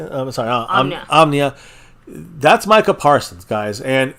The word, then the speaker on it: Omnia: Carpe Omni. How you say it? I'm sorry. Omnia.